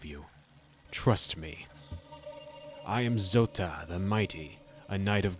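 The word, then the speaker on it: Zote: everyone in check also i don't know if it's pronounced zot or zota but the one time we get to hear anyone say his name it's pronounced zota so be nice to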